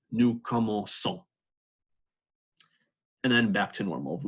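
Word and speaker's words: commençons: the sea soft because when a sea is followed by e it's a nice soft sea sound usually when a/c is followed by oh that hardens up the see so this would be pronounced new komoku but again the verb is como say it's a soft seat so they insert this idea to preserve the soft see new como soul and then back to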